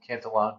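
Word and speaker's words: Cantillon: So that's why I call I guess if you like the Irish pronunciation you can call him Cantalon but um my my professor lives in France so we go with the French pronunciation.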